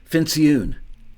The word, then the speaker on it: Fincioen: Joke Fincioen. Yeah, rhymes with balloon.